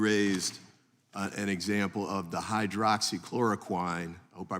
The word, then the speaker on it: hydroxychloroquine: an example of the hydroxychloroquine hope I pronounced that correctly close as one of those examples tell me the right pronunciation hydroxy chloroquin but you're very close thank you and that